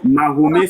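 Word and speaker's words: Mahomet: Mahomé c'est la forme francisée de Mohammad. Nous nous ne sommes pas des Arabes donc on prononce mahomé en français.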